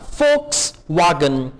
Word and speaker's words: Volkswagen: V को German में हम प्रोनाउंस करते हैं F, तो ये होगा फोक्सवागन।